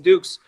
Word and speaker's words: Dux: And so he was Frank Dux in this, and it's spelled DUX. And then that was also brought up in the movie. Oh, Frank Dux.